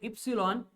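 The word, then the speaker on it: epsilon: यहाँ पे ये जो साइन दिख रहा है आपको, इट्स ए ग्रीक अल्फाबेट, इसको प्रोनाउंस किया जाता है एज ए इप्सिलॉन एंड इसकी मीनिंग होती है परमिटिविटी ऑफ द मीडियम।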